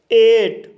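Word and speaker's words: eight: नाई शब्द में I के बाद GH आया है, इसलिए GH साइलेंट रहेगा, इसलिए इसे नाई पढ़ा जाता है। एट।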